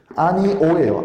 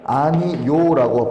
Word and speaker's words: 아니오: 아니오예요. 아니오. 역시나 원래 발음은 아니오예요. 하지만 아니요라고 발음하는 것도 허용해졌습니다.